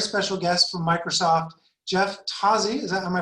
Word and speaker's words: Tozzi: got a very special guest from microsoft jeff tazzy is that am i pronouncing that correctly that's right jeff tazzy from